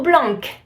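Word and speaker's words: blanc: to be BL no Blan BL the C is silent another one for example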